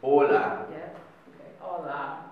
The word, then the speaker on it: hola: hola hola yeah because in Spanish the age you don't pronounce it so it was just hola yeah Chinese how yes